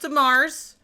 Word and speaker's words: DeMars: It's pronounced DeMars. Julia's last name is DeMars, and it is French of the marsh.